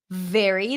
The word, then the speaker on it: very: make that distinction okay very and Berry sound different very that's a v sound bottom lip touching the top teeth